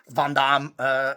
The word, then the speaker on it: Van Damme: a big fan of Van Damme Van Damme, as you should pronounce it right cuz he's like it's like a French name.